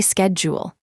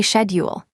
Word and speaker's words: schedule: Next is schedule. In a common American model, say schedule. In a standard British model, say schedule.